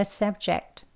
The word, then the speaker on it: subject: Let's change the subject 라고 하지요. 천천히 같이 해보겠습니다. Let's change the subject. 빨리도 해볼게요. 빨리 발음을 하시면요. 이 끝에 오는 트라는 소리가 다 나지 않습니다.